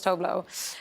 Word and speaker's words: Tove Lo: to say my name so I kind of adopted the International Way which was toblo um but then um Rupal I did you know was a part of uh rupal's drag race and she decided to pronounce it the Swedish way and so now the